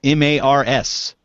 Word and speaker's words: Meagher: Now, please explain to everyone who sees your name spelled Meagher why you pronounce it Mars. Well, the short answer is I don't know. And the long answer is I really have no idea. But it's just, I don't know, it's just an Irish name, and my family is very Irish, and it's just pronounced like that.